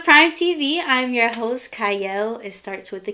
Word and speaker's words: Qiayel: welcome to Prime TV I'm your host cyle it starts with a q but it is pronounced cyle and today I have a wonderful guest with